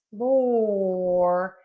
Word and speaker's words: floor: So, flower has the ow sound. And floor has the or sound.